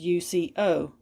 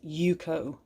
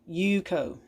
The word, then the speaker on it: UCO: it's made by yuko now this is not pronounced uco you can verify that on their website it is yuko yuko this is a usa made product and i